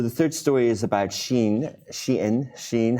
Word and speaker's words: Shein: up yeah so the third story is about sheen sheen sheen how do we pronounce it Sheen and a little fun fact